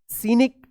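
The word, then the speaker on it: scenic: सीनरी यहां पे भी सी साइलेंट रहेगा। एस सी ई एन आई सी क्या पढ़ेंगे? सीनिक सीनिक पढ़ेंगे।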